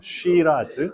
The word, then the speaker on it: Shiraz: 호주에서는 스펠링이 다르고 발음도 달라요. 쉬라즈.